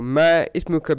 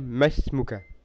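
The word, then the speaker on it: ما اسمك: So ma ismuka become masmuka. It's like the alif is not even there.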